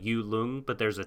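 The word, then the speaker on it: Yut-Lung: It's like Yu Lung, but there's a T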